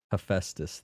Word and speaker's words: Hephaestus: Hephaestus. Thank you. I was debating on it. Do I keep pronouncing things wrong or do I ask for help?